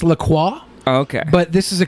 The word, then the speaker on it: LaCroix: you pronounce the name of the drink it's pronounced Lacroix O'Shea can't be right not it well it's in French it's Lacroix okay but this is a company that noses